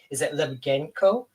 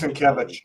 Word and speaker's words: Sienkiewicz: And I didn't want to say your last name in case I said it wrong, but is it Limgenco? That's as close as I guess you. It's pronounced Sienkiewicz.